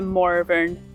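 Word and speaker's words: Morvern: how to pronounce it because there is an R in the name, Moran. But there is a name in Scotland and it's usually a girl's name. Mor Moran Moran. So I I was getting mixed up with the girl's name, but I just double checked and it has got an R, so I think it's pronounced the Moran Peninsula.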